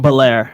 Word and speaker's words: Belair: wrestlemania history between bianca how do you say the last name belair ballet like fresh prince of bel-air because i figured that